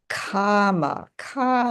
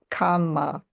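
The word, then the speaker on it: kāma: So this is the kama with a long A instead of kama with two M's. Kama with two M's would be what we think of as karma or action.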